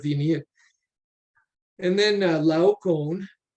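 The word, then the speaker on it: Laocoön: india and then uh lau cone uh in case you're wondering how to pronounce that person's name that's how i've heard it pronoun pronounced by uh people smarter than me he's a priest of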